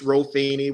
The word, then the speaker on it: Rofini: You were saying it right. It's Rofini, but when you're growing up with a name like that in the projects, man, I've heard Rofini, ravioli. I've heard it all, so I answer to everything.